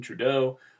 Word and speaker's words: Trudeau: quote mark and then his last name is French so that like many French words tends to have stress on the second syllable or the last level